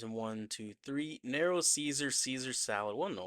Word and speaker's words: Caesar: I guess it should be Kaiser. Kaiser salad. It's supposed to be like Julius Kaiser. That's how you say his name.